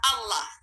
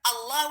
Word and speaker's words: Allah: Nah, pengucapan lam double ini yang kesusahan orang Indonesia. Jadi Allah lebih baik Masya Allah, Masya Allah. Lebih baik katakan Allah, Allah, Allah.